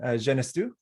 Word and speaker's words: Genestoux: uh i'm dan findlay joined here by julian genestu hi yeah good pronunciation uh of unlocked protocol and we're gonna